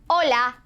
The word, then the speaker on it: hola: before, and that is hola, hola, hola. Can you say it? Good, hola. By the way, in case you haven't noticed, the H in Spanish is silent.